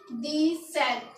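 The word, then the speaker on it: dix-sept: अब इसको कैसे पढ़ेंगे हम ज्वाइन करके? दी सेट। क्या पढ़ेंगे? दी सेट। प्रोनाउंसिएशन लिखेंगे इसकी DEESSEPT। तो हम इसको बोलेंगे दी सेट।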